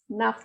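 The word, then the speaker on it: neuf: Nuff. It is ending with F, so it will be pronounced completely. Nuff means 9.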